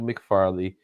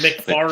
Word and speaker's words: McFarlane: I'll do McFarley. Of course, I'll do Ditko because he. Why do you pronounce he's his good. name McFarlane? Yeah, McFarley. McFarlane. It's McFarlane. McFarlane with the N.